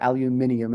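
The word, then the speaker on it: aluminium: And you don't know because you're not in the room, but this tuning fork is made of aluminum um or aluminum if we're going to say it properly.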